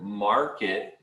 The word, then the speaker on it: market: The word market, you want to say the market. R stronger. Market. Market. Yeah, you want to make the English R sound.